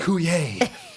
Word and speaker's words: Coulier: If it's a 90s reference, I'm going to know that is Dave Coulier. That's right. There's an R on the end there, but you don't pronounce it.